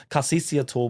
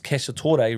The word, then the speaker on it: Cacciatore: So Carceciator, which is Cacciatore, really. I called it, I don't know why I came up with Carceciator. I think I just said it wrong.